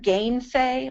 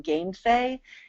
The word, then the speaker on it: gainsay: and that G-A-I-N in gainsay is the same as the G-A-I-N in again and against. All right, it's the same G-A-I-N. In gainsay, it's pronounced gain, but in again, it's pronounced gen.